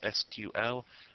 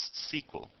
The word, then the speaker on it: SQL: SQL is pronounced by some people as just the letters SQL and by some people as SQL. It doesn't matter which way you say it, it's your personal choice, but it stands for Structured Query Language.